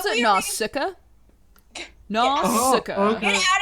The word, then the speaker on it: Nausicaa: How do you pronounce it? Noska?